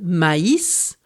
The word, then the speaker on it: maïs: Un signe graphique plus rare mais tout aussi important est le tréma.